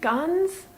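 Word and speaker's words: Ganz: Well, it's spelled Guns or Guns in 2 different places, but G-A-N-Z is what I think Google has it listed at, so Guns.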